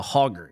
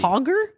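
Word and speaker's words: Hoggar: um they put out a car called The hoger do you remember this no it's crazy hoger yeah they put out a prototype uh what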